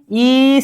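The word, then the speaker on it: 이: अब 2 को पहले लिखते हैं, 2 को हम क्या बोलेंगे, ई बोलेंगे, ठीक है, ई।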